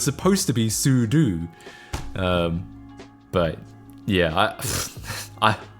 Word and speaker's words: sudo: it's sudu yeah so it stands for super user do it's like as in